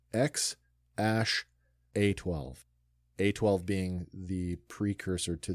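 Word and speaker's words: X Æ A-12: hyphen the number 12 so the actual pronunciation and this is from the mouth of the father this is not me making this up it's X Ash a12 a12 being the precursor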